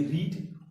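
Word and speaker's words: read: अगर इसका first form देखें तो होता है रीड, लेकिन सेकंड फॉर्म देखेंगे तो स्पेलिंग भी सब यही है, सब कुछ यही है, लेकिन इसको रेड पढ़ेंगे, और इसको भी क्या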